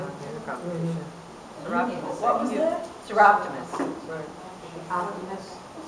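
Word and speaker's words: Soroptimists: And Seroptimus is another one we don't have on here in the competition. Seroptimus.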